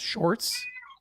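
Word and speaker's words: Sjors: And that's pronounced shorts. Shorts. Uh, yeah. It's like saying George with a very Dutch accent.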